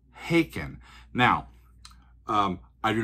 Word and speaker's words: Haken: And I thought it was called Haken. They're like, no, Haken rhymes with bacon.